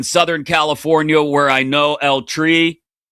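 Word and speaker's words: El Tri: California where I know El Tree. I said that as white as possible. El That's not a place where you roll your R.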